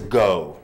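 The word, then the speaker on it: Geaux: And then finally is go. Now, of course, we're sort of witty and spell it G-E-A-U-X, but we want the students to go and to evangelize.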